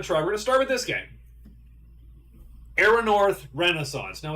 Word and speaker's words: Erannorth: The reason this is first is because I just learned how to pronounce it. So, so I'm like, uh, so, so, so we got Aeronor, Renaissance, Eldridge, and Endless Sky, and those are the three games.